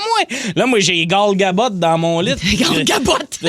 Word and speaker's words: Gal Gadot: On dit Gal Gadot. Gadot, là.